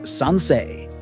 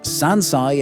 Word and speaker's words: sansei: The numeral for 3 is supposed to be pronounced sansei in Japanese, as in the third. But Artoria accidentally wrote sansai instead, which means 3 years old.